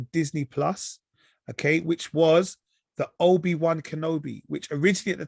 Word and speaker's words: Obi-Wan: It's Obi Wan. Yeah. W-A-N. Yeah. It's pronounced 1. They say 1 though. Obi Wan.